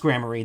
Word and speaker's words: Gramarye: Knack and Talent Gramarye, maybe? Got in about 4 games of Commander, tried the meatball sub at the game shop. Nice. It's pronounced Gramarye.